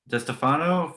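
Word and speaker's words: DiStefano: DeStefano? DeStefano. DeStefano from Porno for Pyros next week.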